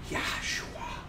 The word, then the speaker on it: Yahua: Now, look, we're trying to make known not just that his name is Y ah Hua and is pronounced Yahua.